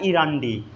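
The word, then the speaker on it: endi: इसको हिंदी में हम अंडी बोलते हैं, बस इसको थोड़ा अच्छे से पढ़िए तो इंडी लिखा जाता है। क्या लिखा जाता है? इंडी। इंडी मतलब अंडी, ठीक है। या इसको बोला जाता है इरंडी।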